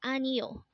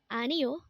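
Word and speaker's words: 아니요: book next word is anio again this is pronounced as anio and this is a polite way of saying no in Korean again anio is No next word is and this is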